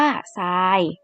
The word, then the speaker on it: ทราย: กล้ำ กัน ดี กว่า ค่ะ ทราย อ่าน ว่า ทราย ทราบ อ่าน ว่า ทราบ อินทรีย์ อ่าน ว่า อินทรีย์